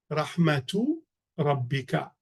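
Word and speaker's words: رحمة ربك: But it is pronounced Rahmatu Rabbika, pronounced with a ta, because it's the first word of an idafa structure.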